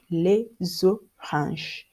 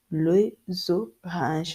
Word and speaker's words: les oranges: You pronounce S and X like Z. For instance, we have les oranges. Les oranges, as you can see, the S at the beginning of the vowel sounds Z, and you have les